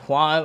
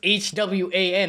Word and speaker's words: Hwan: Okay, I saw some comments in the last video where Yusuf pronounced his name like Hwan, like J-U-A-N, like, bro, it's H-W-A-N, how are you supposed to pronounce it? It's Hwan.